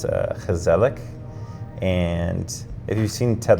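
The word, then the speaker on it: gezellig: Um and I lived in Holland for 2 years and they had a word um it's pronounced and I don't know if I'm going to get it perfect. It's kazelic.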